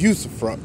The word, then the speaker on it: usufruct: to find yeah usufruct I know sounds kind of weird that's how it's pronounced yousa front I know but it